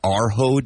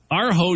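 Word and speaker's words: Urho: Arho Day?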